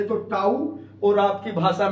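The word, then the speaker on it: tau: दिखाई दे रहा है यह टी नहीं है यह टा है टा मैंने ताऊ भौतिक विज्ञान में बोले तो ऊ और आपकी भाषा में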